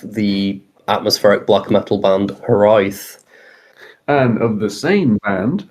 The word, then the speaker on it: Hiraeth: Hello, I'm now joined by Hireath, which is how you pronounce it.